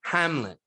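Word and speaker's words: Amleth: if you caught this even though it's spelt very differently his name is pronounced basically hamlet like someone who is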